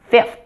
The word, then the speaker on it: fifth: tongue comes out now fifth the eye and fifth is a short relaxed I look at my mouth as I pronounce it yeah yeah a common error with the short eye is to pronounce it e like in the word feet that's a different sound